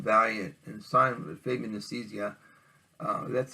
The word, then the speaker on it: Nicieza: One of the ones I've got back was from Acclaim, back when Acclaim took over from Valiant and signed with Fabian Nicieza. That's how you pronounce his last name.